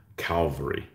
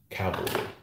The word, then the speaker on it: cavalry: Most people will call, you know, horse type troops, they'll call them Calvary. And I don't. I've never had that problem. I have a problem pronouncing this color, I'm told, but not cavalry. But it's Calvary, so the three crosses on Calvary.